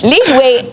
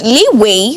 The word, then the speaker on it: leeway: it is a brand lead way actually isn't a word leeway which is correct means extra space and